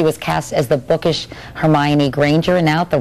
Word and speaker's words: Hermione: 10 when she was cast as the bookish Hermione Granger and now at the rip old age